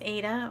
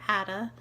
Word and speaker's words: Ada: It is about a girl who's about 10 years old, whose name is Ada, or Ada. It's spelled A-D-A.